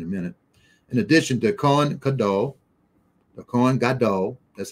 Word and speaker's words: Kohen Gadol: In addition to Kohen Gadol, that's how you pronounce it in Hebrew, high priest.